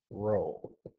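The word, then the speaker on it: rho: the Greek letter r which is pronounced row okay so is just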